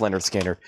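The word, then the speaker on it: Lynyrd Skynyrd: Pronounced Leonard Skinner.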